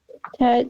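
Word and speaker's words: ט: And what rhymes with chet? Tet.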